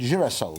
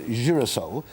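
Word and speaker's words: girasole: sunflower which is why they're called uracil which is the italian name form mm-hmm and unfortunately the british couldn't pronounce the word is your soul so it became sort of bastardized into jerusalem nothing to do with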